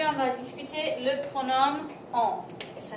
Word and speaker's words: en: Aujourd'hui, on va discuter le pronom on. Et ça s'écrit comme ça. E-N. Ça se prononce on.